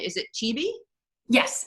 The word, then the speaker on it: Chibi: So now I want to make sure I get the name, the spell, the pronunciation of your dog's name. Is it Chibi? Yes, it's Chibi.